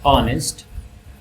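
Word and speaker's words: honest: एन का यूज़ होगा क्योंकि एच साइलेंट है और ये ओ का ही साउंड क्रिएट कर रहा है। लाइक ऑनर और ऑनेस्ट तो ये एच का साउंड नहीं कर रहा।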